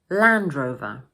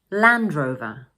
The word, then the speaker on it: Land Rover: We also place most of the stress on the first word, land. So in full, this make is Land Rover. Land Rover.